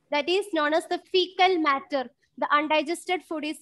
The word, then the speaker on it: faecal: fecal. Pronunciation is fecal.